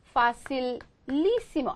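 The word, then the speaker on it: facilísimo: 예를 들어 fácil 얘 쉬운이잖아요. 여기 아센토 있었잖아요. 그쵸? 그런데 여기다가 붙여줘서 facilissimo 아센토 바뀌어요. 이쪽으로. 그래서 facilissimo 하면 facil 쉬운 facilissimo 진짜 쉬워.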